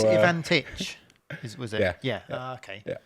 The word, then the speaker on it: Ivantic: Everybody says it wrong. So it's Ivantic.